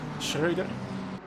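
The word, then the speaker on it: Schröder: You see, I know how to pronounce the nice O with the umlaut on it. Schroeder.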